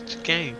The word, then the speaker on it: chicane: No, I thought it was like- SH. no, it's chicane.